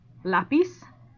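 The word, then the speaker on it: lápiz: have some examples here lapis you say lapis not lapis right and since typically this word that ends in a z which is a consonant would have the stress on the last syllable the i and it doesn't you're going to put it on the a climax has a stress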